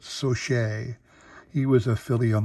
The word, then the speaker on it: Saucier: how you pronounce it it's like saucier but so shay he was a philly